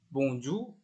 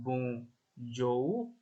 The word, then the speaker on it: bonjour: U. Contohnya ini ada bonjour ya. Ini sering kalian dengar atau baca. Bonjour. Bonjour. Terus ada poulet. Poulet. Bonjour. Poulet. Poulet. U ya. Jadi bukan O, bukan bonjour, jo ya, nggak O gitu bacanya.